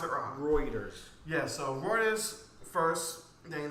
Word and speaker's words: Reuters: it was first reported by i've always been mispronounced as rotors or routers wrong it's one of my new sources that i use yeah it's i've always pronounced it on reuters yeah so reuters first thing that tick tock